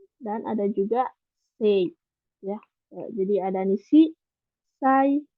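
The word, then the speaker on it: 西: Hai, untuk cara bacanya ini ada nishi, terus ada sai, atau bisa juga zai, dan ada juga sei.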